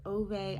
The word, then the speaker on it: Ove: is A Man Called Uva. I know some people say it A Man Called Ove. I listened to the audiobook and they pronounced it Uva, so that's what I'm going with.